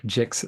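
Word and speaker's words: GICS: global industry classification standard also known as the gixs or Jigs sometimes folks like to pronounce that g a certain way and I don't really like to to hold anyone to how you pronounce it but again the global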